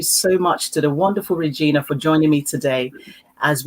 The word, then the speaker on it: Regina: always causes a challenge you say regina and i know everybody around the world says regina but my father gave me my name and i loved my name i pronounce it regina yes okay i love